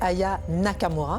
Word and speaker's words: Aya Nakamura: la France alors déjà vous prononcez mal son nom hein c'est Aya Nakamura Aya Nakamura pardon pour